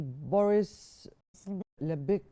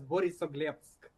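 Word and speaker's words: Borisoglebsk: Actually, yes, Borisoglepsk. That is probably correct pronunciation of Russian airport where the Russian military fighter jets situated.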